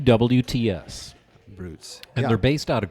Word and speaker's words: Brewts: this this mix and it is brutes and it's spelled beat go ahead BR e WTS brutes and they're based out of Grand Rapids Michigan